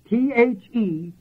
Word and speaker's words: theoreo: And that word is spelled theoreo. This is an R. Theoreo.